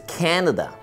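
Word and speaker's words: Canada: que se llama Canadá Canadá se pronuncia muy similar a como decimos en español pero el acento cambia en este caso es Kendall y las personas que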